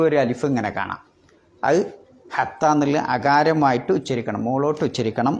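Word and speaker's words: حَتَّىٰ: അലിഫ് വരുന്നത് അങ്ങനെ ആകുമ്പോൾ ഹത്തീ എന്ന് ഓതരുത് ഹത്താ എന്ന് അകാരമാക്കി ഓതണം എന്നതിനാണ് ആ മിഡിലിൽ ആ നഗ്നമായ അലിഫ് ഇടുന്നത് അതിൽ അടയാളം ഒന്നും ഉണ്ടാവില്ല വെറും ഒരു അലിഫ് ഇങ്ങനെ കാണാം അത് ഹത്താ എന്നുള്ളത് അകാരമായിട്ട് ഉച്ചരിക്കണം മുകളിലോട്ട്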